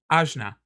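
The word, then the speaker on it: Ajna: y it is your third eye it is pronounced azna and that is I see I see my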